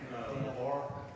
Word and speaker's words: LaBar: It's LaBar. This is the last name. LaBar? Yep. How do you spell that? LAVAR. Gotcha. French? Yeah, but when you try to French it out, that's just LaBar.